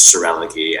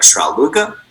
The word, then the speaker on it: Schroerlucke: So I pronounce my last name. It's a long German last name. And pronounced with an American twang is Schroerlucke. I think in German it'd be closer to something like Schroerlucke.